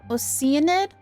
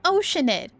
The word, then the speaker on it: Oceanid: How does she pronounce that? Oceanid? It's Oceanid. So Neuvillette maintains an archive of case files? Guess that's the hard-working Chief Justice for you. We've been saying Oceanid this entire time since Liyue.